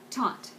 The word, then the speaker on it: taut: the right shade and it's just one syllable but they're so shading